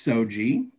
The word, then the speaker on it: SOGIE: It's pronounced SOGIE, and no, it's not referring to a rice paper room divider.